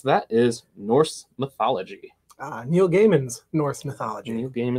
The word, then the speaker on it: Gaiman: and just to clarify it's neil gaiman not neil diamond sorry i'm just saying that there are people in the universe who pronounce it diamond i just don't think that's right okay you don't think